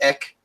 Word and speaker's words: ek: Where they have instead of saying the normal Dutch version of me, which is ek, very short K sound at the end, they go for the